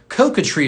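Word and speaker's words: coquetry: see here so it's uh uh Coca tree coca tree is the word of the day it's spelled c-o-q-u-e-t-r-y coca tree it's a noun cocotry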